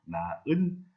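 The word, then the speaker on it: 낳은: 이때 발음을 할 때 히읗을 없애고 탈락시켜서 나은, 많이, 달아 이렇게 말을 합니다.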